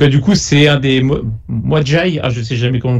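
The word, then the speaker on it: Medjai: Donc du coup, c'est un des Mwadjai, je sais jamais comment le prononcer, les gardes. Ouais. Madjai, ouais. C'est ça, Madjai qui fait la voix off, qui narre l'histoire en gros.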